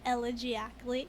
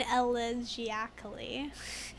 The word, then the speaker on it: elegiacally: He says almost elegiacally.